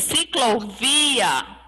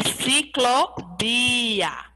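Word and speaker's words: ciclovía: bicicleta não é enciclopédia não esqueçam que o veneno espanhol ele tem o som de bebê quando for pronunciar tem que colocar o som de bebê ao invés de dizer ciclovia é ciclo bia bia bem suave tá bom e aí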